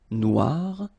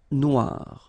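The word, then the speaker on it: noire: you will have to add this at the end of Noir for the feminine form but then you don't pronounce it okay so phonetically it is exactly the same Noir Noir Okay g don't pronounce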